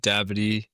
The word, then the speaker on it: d'Abadie: And uh uh without further ado, uh uh, did I get that pronunciation right, for your last name, bro? Yeah, it's it's close enough. It's a tricky one. Dabbed.